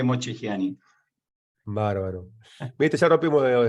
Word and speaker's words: Mocchegiani: Bueno, en italiano es Mocchegiani, ¿viste? Parece que le cuelga, le chorrea el tuco, se dice así, Mocchegiani. No, Mocchegiani. pero aquí simplemente Mocchegiani.